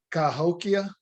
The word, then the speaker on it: Cahokia: The pronunciation of the Indian tribe is Cahokia.